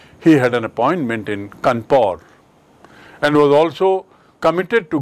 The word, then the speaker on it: Kanpur: Dekhiye Kanpur ki spelling aur iska uchcharan bhi Kanpur. Why? Because British people cannot pronounce Kanpur.